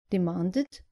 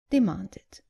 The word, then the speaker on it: demanded: And not demanded, but demanded.